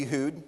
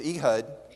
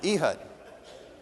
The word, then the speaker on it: Ehud: Some people say Ehud. It's wrong because it's Ehud because it rhymes with Judd, and he was left-handed. Ehud.